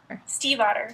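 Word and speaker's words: Stiefvater: and then I promptly forget Steve the name Steve and then otter the small creature Steve otter yeah that works really well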